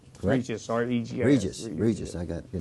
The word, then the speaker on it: Regis: County Commissioner Mr it's Regan Regis Regis I got your name wrong thank you so thank you good to